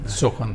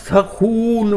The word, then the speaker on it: سخن: تو انہوں نے فرمایا لیکن فصیح ترین تلفظ سخن ہے جی. کیا بات. اور سخن اس وقت جائز ہے جب قافیہ ہو. صحیح. لیکن سخن بہت رہا ہے، یہاں تک کہ سامانی دور اور غزنوی دور میں اس لفظ کا سخون واو کے ساتھ تلفظ رہا.